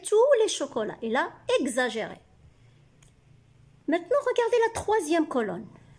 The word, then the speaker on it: exagéré: Exagéré. Gz. X se prononce gz. X fait le son gz.